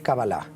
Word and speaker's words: cábala: la cábala en sí no sé si lo pronunció bien en doctores cábala o cábala en realidad es cábala todo bueno en el